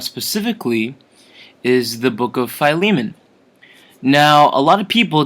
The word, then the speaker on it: Philemon: about the book of Philemon um it's not pronounced philly ah mon or you know misinterpreted as a filet mignon a very tasty delicious